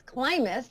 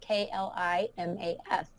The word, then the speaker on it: Klimas: I mean, the pronunciation of my last name is Klimas, like climbing to success, Klimas.